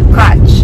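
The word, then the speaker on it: Qach: Ito ay sa Kutch. No? So, it's spelled as Q-A-C-H.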